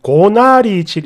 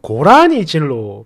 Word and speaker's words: 고나리질: 해주셔서 알게 됐습니다 고나리 고나리질 있죠 어 이거를 제가 지금까지 그 단어가 나오면 고라니 질로 발음을 했나 봐요 아니 그렇게 했습니다 어